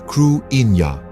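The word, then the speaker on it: Cruithne: object orbiting the Earth they dubbed it kutna pronouncing it as KW Ina this peculiar Celestial body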